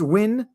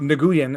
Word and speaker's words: Nguyen: It's Win, generally spelled Nguyen. I pronounced it Nguyen until I was corrected by the doctor.